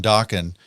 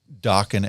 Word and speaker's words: Dokken: So he just called it Dokken as just kind of a placeholder. Right. Right. He's like, it rhymes with rockin', we'll figure out something else later on.